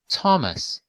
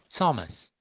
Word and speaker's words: Thomas: please go one igor thomas thomas thomas it can be both thomas and thomas very often it's thomas with t as in t or tom simply or take an exam